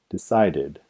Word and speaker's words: decided: Los verbos que terminan en los sonidos T o D, T o D, pronuncia el verbo con el sonido id en la terminación.